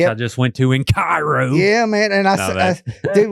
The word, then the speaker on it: Cairo: But then some people be like, "It's not Ko, it's Cairo." Like the syrup. And I'm like, "Well, now y'all are fighting." So, I mean, who knows? But it is spelled like Cairo Egypt in my defense.